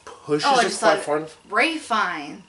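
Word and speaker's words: Ralph Fiennes: Ray Fine. Yeah, Ray Fiennes. Yeah. Ralph Phineas is how your name is spelled, asshole. Yeah.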